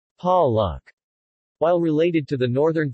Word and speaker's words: palek: The letter E is pronounced as the schwa oun, or A, as in Dios Mamahas. Dios Mamahas. And Palak. Palak.